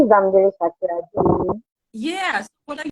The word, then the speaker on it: Bamidele: So today I have with me Bamidele. Yeah, Is that right? Did I say it right? Yeah. Bamidele, I have Bamidele with me today.